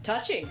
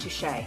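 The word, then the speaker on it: touché: Touchy. I think it's pronounced touche.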